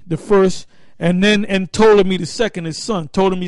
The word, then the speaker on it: Ptolemy: Ptolemy, the P is silent, all right? Ptolemy the first, and Ptolemy the second, his son, Ptolemy Soter and Ptolemy Philadelphus.